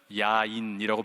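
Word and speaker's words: יין: 실제로 히브리 말로 포도주를 뭐라고 발음하냐면 야인이라고 발음합니다.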